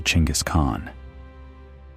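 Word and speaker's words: Chinggis Khan: REPEATED FOR EIGHT CENTURIES THE CORRECT RENDERING IN THE MONGOLIAN THAT TEMUJIN ACTUALLY SPOKE IS CLOSER TO CHINGIS KHAN THE PRONUNCIATION THAT HAS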